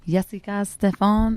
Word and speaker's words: Yessica Stephan: This is the Souletri Spotlight Showcase featuring Miss Yessica Stephan. Is that how you pronounce it? Yeah. Yeah? Yeah.